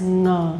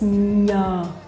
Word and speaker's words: nhờ: A lot of foreigners that I know pronounce this word or this sound as ngờ, ngờ. But actually it's nhờ, nhờ, nhờ, okay?